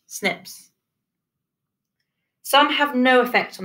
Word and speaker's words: SNP: single nucleotide polymorphisms or snps pronounced snips some have no effect